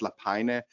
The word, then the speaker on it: Lapajne: Don't try to pronounce my last name. It's actually pronounced Lapajne.